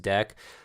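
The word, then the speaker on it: deque: import uh deck here so that's pronounced deck uh so if you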